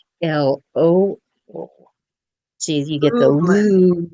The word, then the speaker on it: Lublin: So Lublin, right? Make sure people know how to pronounce Mm. your name. So, And and then, by the way, Jill's name is spelled Lublin, but she pronounces it Lo.